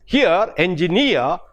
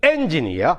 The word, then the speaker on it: engineer: Here, engineer, the E-E-R is a suffix. The stress falls on that. We don't say engineer, but engineer, engineer, engineer.